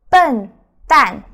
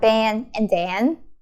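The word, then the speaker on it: 笨蛋: But it doesn't sound Ben and Dan.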